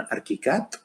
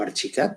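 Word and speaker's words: ArchiCAD: de gabor board con arctic cat o archi cat dependiendo de cómo lo pronunciamos que él te explica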